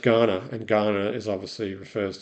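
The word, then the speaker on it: Kaurna: Um the the Ghana people pronounced K a u r n a is pronounced Ghana and Ghana is obviously refers to Ghana this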